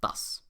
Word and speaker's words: das: One-syllable words like das were spelled like this, making them look like das, when they're actually pronounced thus.